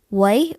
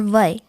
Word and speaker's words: wai: Throughout the entire Pacific, the word for fresh water is actually both of our pronunciations, Wai or Vai.